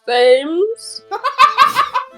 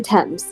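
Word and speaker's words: Thames: way out Beyond Chinatown excuse me sir did I hear you say you're trying to cross the themes not how you say it oh grandmother I didn't realize you were awake it's actually 10 there used to be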